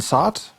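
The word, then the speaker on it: Sott: it's thought so yeah spelled like suit but with one fewer Oh like Scott but with one fewer see aha well welcome to the crew then SOT he shakes your hand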